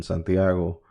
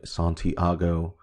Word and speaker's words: Santiago: A bunch of cars, not gridlock, because normally here where I live in Santiago, or let me say the Anglo-Saxon way, Santiago.